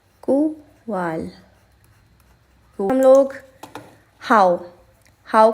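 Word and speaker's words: cuál: विच को हम बोलेंगे कुवाल, कुवाल, कुवाल।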